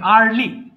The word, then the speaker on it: early: ইয়ারলি হবে না ভাইয়া, উচ্চারণ ঠিক করিনি, আর্লি, ইয়া হবে না, আর্লি। Early.